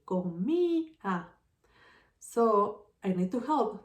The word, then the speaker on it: comía: And the second thing that I need to do is to write the accent on the I.